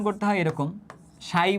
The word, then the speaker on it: psi: এইটাকে বলতেছে হচ্ছে উচ্চারণ করতে হয় এরকম, সাই বলে উচ্চারণ করতে হয় আর কি, PSI, হ্যাঁ, উচ্চারণ করতে হয় এরকম PSI বা সাই নামে উচ্চারণ করতে হয় এটাকে।